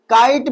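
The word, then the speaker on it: kite: काइट में भी हम ई का प्रोनाउंसिएशन नहीं करेंगे, हीट में भी हम इनका प्रोनाउंसिएशन नहीं करेंगे, और फेस।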